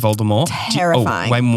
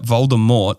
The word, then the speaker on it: Voldemort: people know is that Voldemort the t is silent it's a French word why did they why